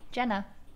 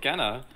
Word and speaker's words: Genna: Jenna. Jenna? No, what do you say, Gina? I said Genna. It's not Genna. What? It's Jenna.